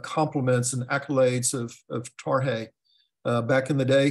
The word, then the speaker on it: Tarhe: that long ago that when we would talk about tarhe guess what we called him we called him tarki so even something as simple as correctly pronouncing his name is it's a big